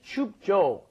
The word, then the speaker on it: 춥죠: So The thing you need to be careful of is that when you're pronouncing jo, it's not just 춥죠. Yeah, 춥죠. Doesn't really work that way. Normally when Koreans say it, it's kind of a hard J, as we've explained before.